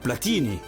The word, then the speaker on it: Platini: Chez nous, ce nom de famille se prononce Platini.